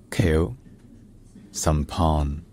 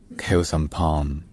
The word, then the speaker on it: Khieu Samphan: in the 1970s in K his name is pronounced k s Pon K some P kill some p Kos and P all right